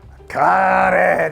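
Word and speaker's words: カレー: 이 음식 이름을 뭐라고 할까 하다가 커리 발음이 안 되잖아요. 커리 카레 데스네.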